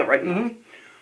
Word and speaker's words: Rittenhouse: Is that how you pronounce his name? Rittenhouse? Yeah, Rittenhouse.